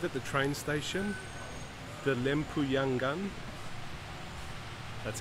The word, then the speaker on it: Lempuyangan: I've arrived at the train station, the Lempuyangan, that's how you pronounce it, train station, and I'm now taking the train to Semarang, which is in central north Java.